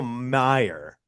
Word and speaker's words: Mayer: Marcel Marcelo Mayer has uh or Marcelo Meyer. Marcelo. It's Meyer. I've been saying mayor. It's Meyer. It's spelled like Mayer.